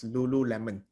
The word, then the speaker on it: Lululemon: So it's pronounced as Lululemon.